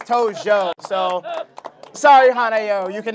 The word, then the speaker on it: Tojo: Just to let you know, you got her last name wrong. Is it Toji? It's Tojo. Oh no.